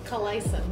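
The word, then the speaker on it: Қалайсың: Kalaisan. Yeah, well, perfect pronunciation. Is it a H or a K? Kalaisan pratan. The first word, letter K. Like we say it like Kalaisan.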